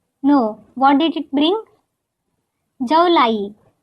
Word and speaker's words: जौ लाई: Jaulai rhymes with July.